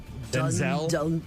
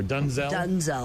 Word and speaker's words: Denzel: Apparently, we've been mispronouncing his name. I saw Denzel. It's Denzel or Dunzel. Dunzel.